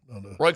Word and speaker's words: Roi: Is there anybody in hockey If you play basketball whose last name is spelled ROI and it's pronounced Roy?